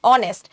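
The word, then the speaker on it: honest: hour, an অনেস্ট ম্যান, হনেস্ট কিন্তু হচ্ছে না, অনেস্ট, তার মানে এইচ এর উচ্চারণ হচ্ছে না, তখন কিন্তু আমাদের আবার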